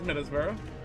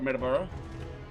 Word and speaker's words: Middlesbrough: This is Middlesbrough. Or Middleborough. Newport, Providence, Hartford, New Haven. That's how you pronounce all those.